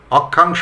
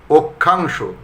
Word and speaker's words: অক্ষাংশ: অক্ষাংশ, অক্ষাংশ হবে না কিন্তু, অক্ষাংশ।